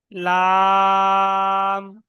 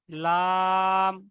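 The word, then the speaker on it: لام: লাম। লাম মানে উপরের সামনে দাঁত, দাঁতের গোড়া আর জিহ্বার আগা একসঙ্গে মিলিত হয়ে উচ্চারণ হবে।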